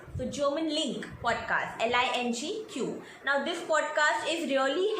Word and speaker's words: LingQ: So link is pronounced as Lingq. So German Link podcast, Lingq.